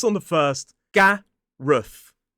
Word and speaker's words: Gareth: This is Gareth. G-A-R-E-Th. Gareth. So it ends in that voiceless TH sound. 2 syllables, stress on the first. Gareth. Gareth.